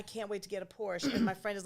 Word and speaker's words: Porsche: pronounce it i would i know how americans pronounce it and that's porsche it's supposed to be porsche yeah it's a porsche porsche that's why the